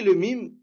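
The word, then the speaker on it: لام: Attention, Amel Saoudi, ce n'est pas « le », c'est « lem ». Pourquoi « lem » Parce que on ne dit pas « le » parce qu'il n'y a pas de fatha ici. On prononce bien la lettre, d'accord?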